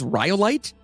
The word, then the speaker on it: Rhyolite: Is this rhyolite? I believe that's how it's pronounced.